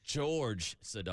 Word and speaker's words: Jorge Sedano: Sedano is coming on George Sedano oh he goes by George like George Costa does it's spelled like Jorge so I went with Jorge on the guess it is but it's George hey this why we